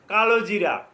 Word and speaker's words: কালোজিরা: হাদিসটা কালোজিরা বা কেউ কালিজিরা উচ্চারণ করে। কালোজিরা উচ্চারণ করতে পারেন।